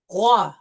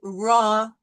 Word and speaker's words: roi: It's going to be rouge, roi, roux, robe. Not rouge, raw, roux, okay? Try to bring it from the back of the throat.